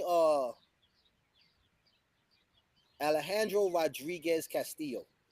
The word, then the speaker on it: Alejandro: His name is pronounced Alejandro. So when you say it that way, that's his name. Alejandro is not his name.